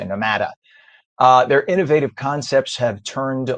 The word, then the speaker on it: Nomada: their newest venture, Nomada, which would be the way you pronounce it in Spanish, Nomada. Probably people say Nomada.